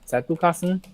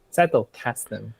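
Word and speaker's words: Zettelkasten: I I remember telling you like I have a collection for Satukasen now. I just cannot stop pronouncing the German way. How do you say it in English? Settle casten.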